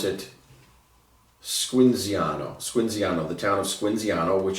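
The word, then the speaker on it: Squinzano: You pronounce it Squinziano, the town of Squinziano, which is where this comes from.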